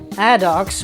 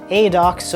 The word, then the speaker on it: ADOX: film news now because ad do or ad do or however you want to call it depending on your nationality anyway it's spelled a